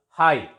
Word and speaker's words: high: Words having silent ZH sound, for example, high, H-I-Z-H. You know it is pronounced as high. GH is silent. It is pronounced as high, H-I.